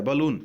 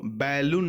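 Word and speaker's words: balloon: से कंफ्यूज करता है बलून इसको बैलून नहीं बलून पढ़ते हैं जिसका मतलब होता है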